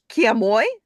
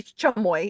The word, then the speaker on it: chamoy: Lime 13 is uh kamoy or chamoy actually chamoy is how it's pronounced and that's dried sour